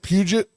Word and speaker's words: Puget: Puget? Puget Sound.